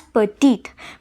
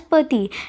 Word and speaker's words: petit: So we shouldn't pronounce it as petite, but we should pronounce it as pati, as the last T would be silent.